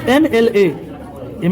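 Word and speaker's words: MLA: बात आई समझ में एम एल एम एलए होता है। पोस्ट का नाम है एमएलए। एम तो वोवेल नहीं है लेकिन इसका हिंदी उच्चारण ऐसे होता है एम एल ए।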